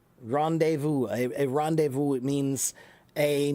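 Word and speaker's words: rendezvous: Rendevu. Rendevu. A a rendevu. means a meeting place, a place to meet is a is a rendevu. Okay. A lot of silent letters. That's right. That's French.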